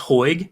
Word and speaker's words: Hoag: It's pronounced Hoag. Hoag.